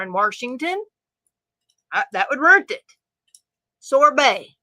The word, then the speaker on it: Washington: them be just like when people say R in Washington I don't say R in Washington that would rent it